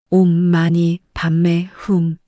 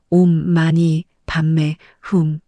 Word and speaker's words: 옴마니반메훔: 옴마니 반매 훔. 다시 한번 옴마니 반매 훔. 옴은 입술을 담은 채 깊은 곳에서 올리듯이 발음합니다. 만이는 부드럽게 밤에는 연꽃이 피어나는 것을 상상하며 흠은 강하게 마무리합니다.